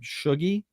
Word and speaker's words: Shuggy: And although growing up, she was called Shuggy, which was short for sugar, but actually it's not short for anything because it's 2 syllables, just like sugar.